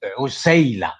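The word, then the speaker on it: عسيلة: Is Usayla, not Asila. It is Usayla.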